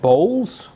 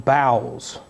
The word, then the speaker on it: bowels: time I read this, is he saying bowls? It's spelled like bowels. What's he saying here? And it sounds a little strange, but yes, he's saying, "Ye are straitened in your own bowels."